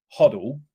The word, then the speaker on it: HODL: touched on this right hodle as a word or Hodel depends how you want to pronounce it but hodle is like